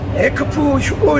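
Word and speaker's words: ἐκφεύγω: 피한다는 말씀은, 피한다는 뜻은 헬라어로 에크프 휴고 이렇게 발음해요. 에크프 휴고가 아니고 에크프 휴고예요. 에크프 휴고.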